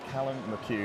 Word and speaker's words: Callum McHugh: Today, we're joined by Callum McHugh. You got the pronunciation right.